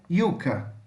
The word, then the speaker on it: yuca: Se você utilizar o espanhol da Espanha, vai ficar com som de I. Então, yuca, yuca. Se você utilizar o espanhol